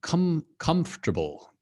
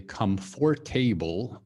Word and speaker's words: comfortable: So comfortable. Okay, a lot of people say comfortable, but it's not table. Like table is a different thing.